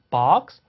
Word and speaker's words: box: 그래서 우리말로 굳이 얘기하자면 오히려 오가 아니라 어에 조금 더 가까울 수도 있어요. 오와 어디 사이, somewhere between. 거기 어딜 것이 생각하시면 됩니다. 그래서 box, box 이 정도 느낌이에요. box는 아닙니다. 자, 그 다음 단어를 또 확인해 볼까요?